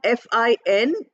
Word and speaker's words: fine: For instance, we have the word fine. We, we have FINE. E is also there. But we are not pronouncing that E. We are not saying fine. A sound is not there. We are saying fine. F-I-N. We are ending at N. That E is not used at all.